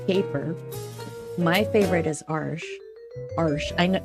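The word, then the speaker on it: Arches: my favorite is AR arsh I I learned how to pronounce that arsh so that's my favorite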